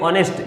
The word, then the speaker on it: honest: जैसे वर्ड है एक HONEST, इसको पढ़ेंगे तो पढ़ेंगे ऑनेस्ट, यानी जो एच वर्ड है वो यहाँ पर क्या हो जाएगा? साइलेंट हो जाएगा, एच का उच्चारण नहीं करेंगे।